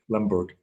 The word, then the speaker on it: Lemberg: you're German, then you pronounce it Lemberg.